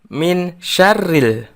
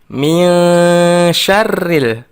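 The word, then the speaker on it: مِن شَرِّ: syarril waswasil honnef anak-anak ketika membaca mio syarril kita samarkand dan dengungkan huruf nun nya hai ken siap masuk ke huruf berikutnya yaitu huruf sin myeon syarril bukan min syarril tetapi mio syarril kalau dalam bacaan tajwid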